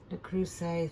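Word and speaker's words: Le Creuset: it it's um it's my fancy loaf dish The Crusade that's how you say it so I will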